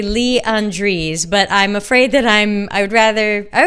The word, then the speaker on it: Lee Andrese: My name is Lee Andrese, and that's Leandrese. And I'm with a company called Akathame, and that is spelled Akatham as in Mary E.